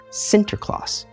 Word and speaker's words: Sinterklaas: As the Dutch speakers slowly intertwined with the English-speaking colonies, the saint's name became an alteration of the Dutch pronunciation, Sinterklaas.